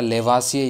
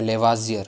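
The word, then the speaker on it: Lavoisier: रखना वो हो जाएगा लेवासियर या लेवाजियर, है ना। दोनों एक ही हैं, लेकिन प्रोनाउंसिएशन में काफ़ी दिक्कत होती है, इसलिए दोनों ही प्रोनाउंसिएशन राइट है, क्योंकि वो हिंदी में थोड़ी अलग हो जाती है, इंग्लिश में थोड़ी अलग हो जाती है।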